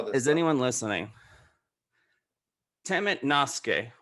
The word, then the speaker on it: temet nosce: temet nosce, which interestingly is pronounced the same in Latin as it is Greek, but it means know thyself.